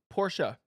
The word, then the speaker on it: Porsche: Cil absolutely hates and it says Porsche it's a two- syllable word that's I feel like